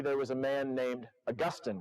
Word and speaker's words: Augustine: was a man named Augustine, right? Augustine of Hippo. Same spelling, different pronunciation. Augustine is the old one. Augustine is the slightly less old one.